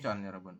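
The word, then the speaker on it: 천: ada 1250 berarti gimana 1000 bahasa sinonya apa adalah con ya Jadi bukan Il tapi langsung con untuk 1000 itu con kemudian setah 250 IB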